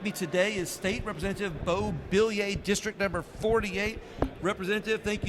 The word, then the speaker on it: Beaullieu: Hey everybody, with me today is State Representative Beaullieu, District Number 48. Representative, thank you so much. Nice to see you. At some point, I'm going to get him to pronounce Beaullieu correctly, but It's Beaullieu.